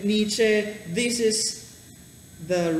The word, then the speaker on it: Nietzsche: How will you pronounce your first name again? Friedrich. Friedrich Nietzsche. Nietzsche. So, if you are into philosophy and if you want to know more about this guy Friedrich Nietzsche, this is the right place, and if you're